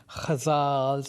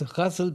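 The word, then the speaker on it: ghazal: GHA a z l is there are various pronunciations I've learned when I came to the United States I heard people saying kazal and that kind of stuff but then I start saying no it's gazel because that's how they said it in Udu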